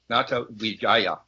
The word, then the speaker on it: Natawidjaja: Yeah, his name is pronounced Natawidjaja. Natawidjaya.